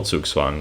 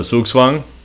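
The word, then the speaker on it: zugzwang: very fancy phrase um so swoogswang spelled like this c u g z w a n g this word it means compulsion to move it's a german word and so it means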